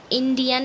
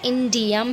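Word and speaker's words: indium: Okay, इंडियम, इंडियन नहीं है, इंडम नहीं है, इंडम नहीं है। ठीक है, इंडियम है, थैलियम है, गैलियम, इंडियम, थैलियम।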